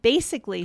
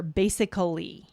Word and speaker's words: basically: And basically, same thing. It would be weird to hear basically. Very weird. Basically.